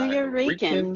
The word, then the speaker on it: Nuyorican: Is that Oh, the New Nuyorican Yorican.